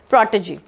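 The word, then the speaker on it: protégé: Next question है और इसका प्रोनाउंसिएशन है इस पर्टिकुलर वर्ड का प्रोटेजी.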